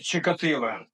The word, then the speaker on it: Чикатило: Воно українське произноситься Украинской мове. Чикатило.